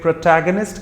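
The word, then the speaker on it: protagonist: जो ये शब्द है जिसको मैंने अभी प्रोनाउंसिएट किया आपके सामने के प्रोटैगनिस्ट, इसे प्रोटैगनिस्ट कहा जाता है in terms of exact pronunciation. I repeat, प्रोटैगनिस्ट या फिर प्रोटैगनिस्ट भी कहा जाता है।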